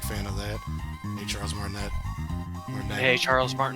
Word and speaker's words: Martinet: of that hey Charles martinet Mar hey Charles Martin I know how to pronounce the name but every time I read it I I I pronounce the T like a dingus yeah I think we'll